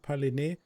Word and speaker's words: Paline: So yeah, if you wondered on what map we're on Paline, I believe you say it. You pronounce it Paline.